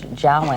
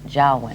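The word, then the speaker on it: Joulwan: talking with General George Jaan this morning about a lot of different things and we've been mispronouncing his name the last few days it's jwin oh okay um some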